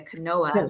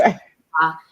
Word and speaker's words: quinoa: And they look at it and it's spelled, they think it's a quinoa, but it's quinoa.